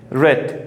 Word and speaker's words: read: the first form but same spelling and different pronunciation red read the first form read second four red